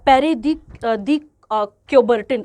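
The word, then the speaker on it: Pierre de Coubertin: अब इनको क्या प्रोनाउंसिएट करेंगे वो आप देख लेना, क्योंकि फ्रेंच नेम है बेटा ये आपके पास यहाँ पे, तो आप याद रखेंगे पेरे दी क्योबर्टिन, अब मैं लिख देती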